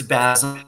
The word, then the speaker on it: Basil: I want to talk about the giant kid Basil or Basil. I don't know which which way do you pronounce it yourself? It's it's Basil and he's named after the the Northstar.